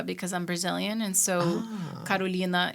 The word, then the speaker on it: Carolina: I'm Brazilian and so Karolina is how you say my name in Portuguese and so in Brazil